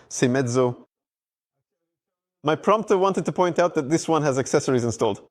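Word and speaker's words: Seiemmezzo: All right, and Moto Morini, which I think I've finally learned how to pronounce, Semezzo.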